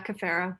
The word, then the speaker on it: Cafaro: All right, so Cafiro. Is that how you pronounce it? Yeah, Cafaro.